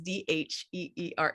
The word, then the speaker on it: Dheere: the H is silent, but I'm not, because his last name is Dheere.